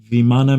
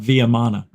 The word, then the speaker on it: Vimana: m na a Vimana meaning here we go pronunciation oh yeah do you know what it means Vimana viam it's not viam it's viman Sanskrit Sanskrit via VIA is